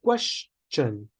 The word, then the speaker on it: question: is two coming for question we say question we don't say question there were some members mentioning about question it's no it's question you must pronounce a CH sound question and there was a